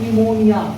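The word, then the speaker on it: pneumonia: लिए लिखने समय तो हम इसको लिखना पड़ता है पी को लेकिन बोलते समय इस पी को क्या रखना पड़ता है साइड में रखना पड़ता है ठीक है तो अगला हम इसमें बोल देंगे इसको बोलते हैं निमोनिया क्या बोलेंगे निमोनिया बीमारी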